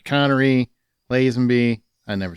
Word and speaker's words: Lazenby: It was like Connery, Lazenby.